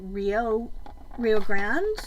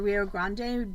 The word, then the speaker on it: Rio Grande: Our favorite used to be made by Rio Grande, or Rio Grande, depending on how you decide to pronounce it.